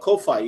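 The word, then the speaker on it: Ko-fi: You talking about Kofi? You talk about Kofi. Ko dash fi. It's like hi-fi.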